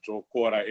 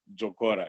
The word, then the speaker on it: Jokora: Yes, it's Jokora, and you pronounced it as if you are a Shona-speaking person from Zimbabwe. That was very correct, Jokora, yes.